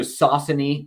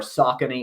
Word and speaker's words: Saucony: uh Saucony which is always pronounced somewhat differently in different parts of the world a boston-based company by the way so Saucony or Saucony or Saucony or however you pronounce